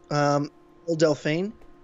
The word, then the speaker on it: Belle Delphine: Belle Delphine. That's how you pronounce her name.